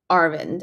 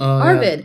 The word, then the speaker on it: Arvid: The next thing was um we were talking about I don't know if you know, but there's a young kid named Arvin or Arvid.